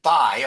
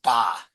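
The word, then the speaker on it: בײַ: Also, instead of by, although it's spelt by, standard pronunciation is ba. And consistently he said ba. Ba negidim. So I don't know why it's spelled by, because everyone pronounces it ba.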